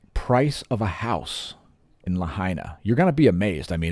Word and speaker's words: Lahaina: on in China now let's talk about Lahaina because it rhymes with China China Lahaina and did you know